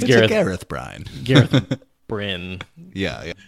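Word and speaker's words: Bryne: I mean, I did say Bryn all this time. There is an E at the end. There is. It's definitely spelled like Bryn, but... Are we going with Bryn? I think Bryn's right.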